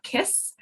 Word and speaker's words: CISS: We are now CISS. So it's a hard C, not a soft C.